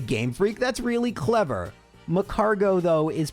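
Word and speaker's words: Magcargo: Isn't that macargot? But no, because escargo is a French loan word, the T is unpronounced.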